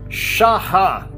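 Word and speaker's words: שָׁחָה: o verso 6 tem uma palavra em hebraico que se pronuncia assim charra repetir charrá e ela escreve-se assim shch significa prostrar prostrar eu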